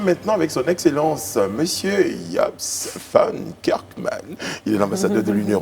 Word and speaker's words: Jobst Von Kirchmann: Nous sommes maintenant avec son Excellence, Monsieur Japs van Kerkman. Il est l'ambassadeur de l'Union européenne en Côte d'Ivoire. Je prononce bien, Excellence?